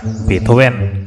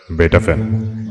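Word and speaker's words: Beethoven: আছে কিন্তু আপনার নেই কি রকম হাইড্রন মোটার্ট বেটাফেন এই হলো আসল উচ্চারণ হাইড্রন মোটার্ট বেটাফেন থ্যাঙ্ক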